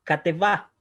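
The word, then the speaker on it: כתבה: Y esta palabra se pronuncia como kateva.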